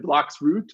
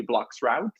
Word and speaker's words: bloXroute: he was in the blocks route because South Africans said root they're not around usually but and both are okay it's usually blocks route because I pronounce it